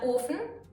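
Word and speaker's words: Ofen: the orphan or can be pronounced long or as in orphan or short ah as in often these particular words are almost identical but often means furnace and often means open this is a perfect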